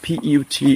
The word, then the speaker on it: put: pronunciation of put, P-U-T, is like oh, put. But when we come to like but, B-U-T, but, say put and but. Why? Because of the phonetics.